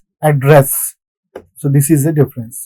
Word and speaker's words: address: But when it comes to this particular word, to speak, to, the stress would be in the second syllable. Address.